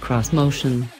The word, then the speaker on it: Xmotion: This motion, which Nissan insists should be pronounced cross-motion, is a sturdily penned six-passenger vehicle, riding on all-terrain rubber.